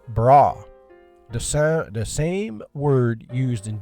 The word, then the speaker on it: bara: The word create here in Hebrew is bara. Not bra. Maybe that's how it's said, but it's bara.